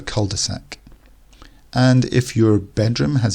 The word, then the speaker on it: cul-de-sac: then back out again again the French pronunciation would be quite different to this but in English we call it a cul-de-sac and if your bedroom